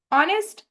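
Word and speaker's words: honest: ऑनेस्ट starts from हा यानी कि लेटर हा से स्टार्ट होता है। बट उसकी प्रोनाउंसिएशन ऑनेस्ट नहीं होती। इट इज़ ऑनेस्ट। ऑनेस्ट a sound is pronounced are produced.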